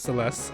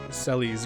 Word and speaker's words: Celes: And I also used to pronounce Celeste Celes growing up as a little kid. Celes and Edgar. But now that I'm older, I know better.